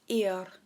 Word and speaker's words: ir: go in it's just this little word its ear yeah say like it's like we're saying Here I am in English you know a body part ear now try and say